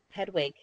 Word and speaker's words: Hedwig: that series, and then I only have Harry and I can't pronounce his owl's name. Hegwig. Hedwig.